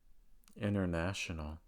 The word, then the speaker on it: international: Annie Annie County County so again these are words that have the letter n followed by the letter T and the T goes silent this usually occurs when